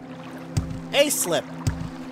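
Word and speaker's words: Aesliip: A-slip. So it's pronounced like letter A, slip, as in you slipping and falling.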